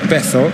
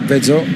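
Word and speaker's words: Vezo: Started off with Vitoria Setúbal, so certainly not Bezo. Spanish pronunciation, more like Bezo.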